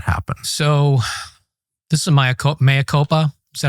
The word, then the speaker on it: mea culpa: So, this is my mea culpa. Is that how you say it? mea culpa Yeah.